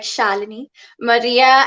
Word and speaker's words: Shalini: That's pronounced like Melanie, like Shalini Maria.